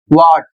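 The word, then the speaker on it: what: अक्सर लोग इसे पढ़ते हैं व्हाट, हा का उच्चारण करते हैं, जबकि हा का उच्चारण नहीं करना है। यहां पर H साइलेंट है और इसे पढ़ा जाएगा, सही प्रोनाउंसिएशन होगा व्हाट और इसका अर्थ होता है क्या।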